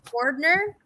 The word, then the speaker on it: Bordner: Up next, we have Bordner. Correct me if I pronounced that wrong, with Slidewaters.